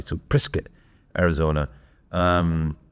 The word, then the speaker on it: Prescott: You see, you pronounce it prescuit like biscuit apparently. So, Prrisket, Arizona. Um, not Prescott.